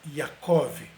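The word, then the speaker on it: יעקב: É básico você estudar um pouquinho de hebraico e perceber que nomes como Jacó, não se pronuncia Jacó no hebraico, é Yaakov, ou José, que ainda existe em vários países árabes, é pronunciado como Yosef.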